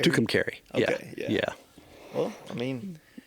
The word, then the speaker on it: Tucumcari: you earlier, when I had a friend that was telling me they broke down in Tucumcari.